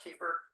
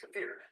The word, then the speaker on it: kefir: Some people call it kefir. I've heard that it's properly pronounced kafir.